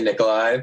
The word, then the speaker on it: Nikolai: So, just because I've had problems with this before, is your name pronounced Nikolai or Nikolai? Either one. I I say Nikolai, but I don't when people say Nikolai, it's totally fine.